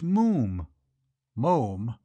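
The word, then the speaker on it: Moffam: I told you father it's Mo M it's spelled m FF M but pronounced Mo to rhyme said Archie helpfully with bluffing him Lou said Mr Brewster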